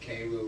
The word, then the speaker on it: Cairo: little town called Cairo, spelled like Cairo but pronounced Cairo.